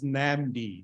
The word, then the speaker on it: NAMD: an MD for okay it's pronounced as namdi not another solution okay